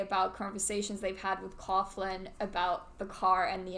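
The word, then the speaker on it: Coughlan: it no no i don't know how it's pronounced c-o-it's-c-o-u-g-h-l-a-n oh coughlin cop yeah irishman is that irish well i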